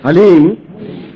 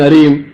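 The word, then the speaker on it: ह्लीं: बोलिए ओम हलीम बस ये हलीम शब्द बहुत ध्यान से उच्चारण करने देना एच ए एल ई ई एम हलीम कोई बोले हरीम कोई बोले हीम तो कुछ फायदा नहीं होगा हलीम हलीम ह आधा है ओम वापस बोलना ओम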